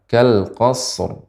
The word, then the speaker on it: كالقصر: Nah, karena shad bukan huruf qalqalah, maka tidak boleh langsung kita mengucapkan kal qasr. Ya, karena tidak boleh dipantulkan. Sehingga cara membacanya adalah kal qasr, qasr, qasr. Nah, dan ra dibaca dengan tebal.